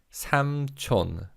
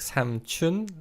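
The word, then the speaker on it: 삼촌: sam chon sam chon but in fast speech this can sound more like sam chun than sam chon it sounds like this samsung now similar to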